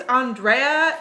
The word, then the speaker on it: Andrea: And she said, "My name's Andrea. It's pronounced the Mexican way."